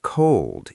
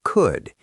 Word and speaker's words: could: We do not say the L. It is not cold. It is could. It rhymes with good or would.